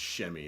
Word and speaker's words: Semi: I think his name is pronounced Shemi. Everybody says Semi, but I think it's Shemi. So Shemi, he had a nice game.